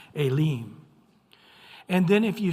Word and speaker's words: Elim: It'll actually say elim. So the e has a a sound and the i has a e sound. Alim.